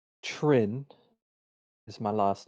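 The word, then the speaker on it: Trynn: your full name uh my name is trin is my last name if you must know how do you spell that uh so k a a l i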